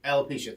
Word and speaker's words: alopecia: suffering from i want to make sure i pronounce the disease correctly animal alloys alopecia alopecia thank you thank you which is hair loss